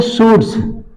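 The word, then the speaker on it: surds: है करी एस यू आर और साइलेंट होगा ना इसको पढ़ेंगे सूट से कुछ लोगों से पूछेंगे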